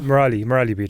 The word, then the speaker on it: Merali Beedle: Merali Beedle.